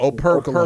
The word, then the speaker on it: Operculum: Say his name proper. Operculum. That's how he said it.